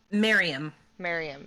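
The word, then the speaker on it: Maryam: Mariam? Miriam.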